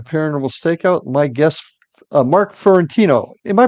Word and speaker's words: Fiorentino: are back at paranormal Stakeout my guest Mark fiorentino am I pronouncing that correctly Mark yes that's good okay